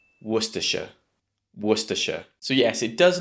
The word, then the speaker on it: Worcestershire: But in fact, it only has 3 sounds or 3 syllables. Worcestershire. Worcestershire. Again, you might have noticed in the middle, the second syllable, we have that schwa sound. I told you, it's everywhere. And also make sure you have the stress at the beginning of the word.